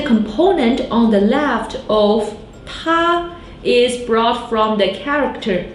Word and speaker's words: 她: 他 means he. 他. Another character with the same pronunciation. 她 means she.